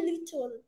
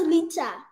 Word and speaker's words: little: Little. Not litter. Little. Little. Yeah. All right. You're saying it in your English accent, like anywhere I want to say. No offense. English accent. You have to say it like the little L.